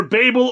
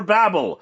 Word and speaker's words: Babel: And that there's an entire debate about how to pronounce the tower's name, either Babel or Babel. They are both technically correct, really dependent upon how you first heard it and regional dialects and whatnot.